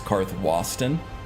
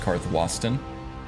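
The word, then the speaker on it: Karthwasten: be the case uh I have always said cartho wasting because it sounds right to me but I think um if we're going by Nordic pronunciation I think it's karth Boston at least that's what gopher said I think gopher said that he um knew some of the Nordic languages and that he thought that it should be pronounced carth wasston and like iverstead should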